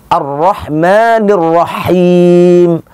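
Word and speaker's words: الرحمن الرحيم: melainkan hak itu yang harus sama-sama kita pahami arrohmanirrohim hak beda dengan hak kalau huruf ha itu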